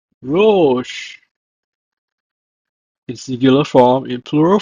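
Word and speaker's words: רֹאשׁ: It's pronounced as Rosh. Rosh.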